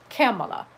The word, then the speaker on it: Kamala: those instances in which someone just says kamala that could have been another possibility given that there is another syllable but it turns out that it's kamala and i immediately associated it with the name pamela you could also say pamala